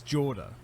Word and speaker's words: Jorda: starting this i realized i pronounced her name wrong it's jorda hey i was ready